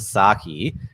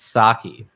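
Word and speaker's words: Psaki: s a k i the p is silent so it's not the sake it's sake and that's the redhead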